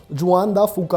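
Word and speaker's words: Juan de Fuca: फूका प्लेट है, उस प्लेट का नाम है जुआन दा फूका, अलग अलग प्रोनाउंसिएशंस हो सकती हैं, और ये एक मेजर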